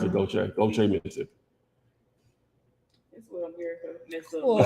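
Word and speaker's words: Gautier: that though you know what i'm saying they pronounce it go check don't treat me that's what i'm here so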